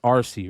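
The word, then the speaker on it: Arcee: jumper RC that's it's it's pronounced RC right like the female that's the female one RC right and wheel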